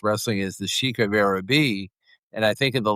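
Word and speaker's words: Araby: By the way, it's pronounced Arabi.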